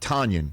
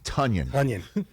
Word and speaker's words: Tonyan: rodgers you know what's not fun being called tanyan it's tonyan name pronunciations are so important though it is of